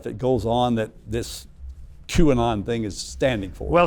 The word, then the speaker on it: QAnon: Is that how you pronounce it? QAnon, yeah.